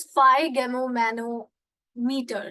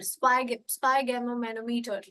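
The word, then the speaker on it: sphygmomanometer: If you remember this word, I had if we actually talked about its pronunciation also. So it was spy-gamma-manometer, spy-gamma-manometer, right?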